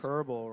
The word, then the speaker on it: Koerbel: Kerbal rhymes with Gerbil.